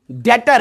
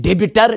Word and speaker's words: debtor: वारिया डेटर DEBTOR डेटर बहुत सारे बोलते हैं डेबिटर गलत वर्ड है इट इज डेटर B silent है TORDETOR डेटर creditor debtor